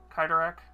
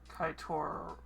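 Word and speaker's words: Cyttorak: Cyro uh CYO cyak kidak it's I'm trying to see how it's pronounced because it's not kaitor yeah kidak um basically kidak uh species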